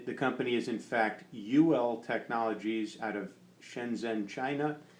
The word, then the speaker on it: Uwell: look at this, and I was calling it the Jewel because that U kind of looked like a J to me, but the company is in fact Uwell Technologies out of Shenzhen,